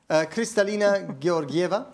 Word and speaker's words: Kristalina Georgieva: We then have Kristalina Georgieva. Have I pronounced that correctly?